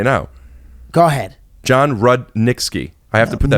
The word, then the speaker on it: Rudnitsky: right back with John Rosinski you not even saying my name right rude in ski rudnitsky Rudnick's Rudnick ski oh god let's start